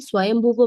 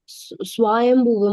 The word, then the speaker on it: Swayambhuva: the son of Devahuti, Swayambhuva Manu, Prahlad Maharaj, No. You have pronounced wrongly. Swayambhuva Manu. Soumya Mataji, can you see the difference, no? Yes, Prabhuji. Swayambhuva Manu. Swayambhuva Manu. That va should be extended.